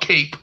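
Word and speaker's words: Kape: I don't know why people keep saying Cop, but it's I call it Cape.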